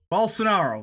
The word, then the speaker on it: Bolsonaro: well sonoro balsa you know what screw it pronounce screw it we're doing it the old-fashioned way we're gonna ask google both sonaro bolsonaro there we go i didn't screw it up